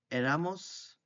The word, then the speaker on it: éramos: Then eras, era, éramos, the accent on the E, erais, and eran is they were or they used to be.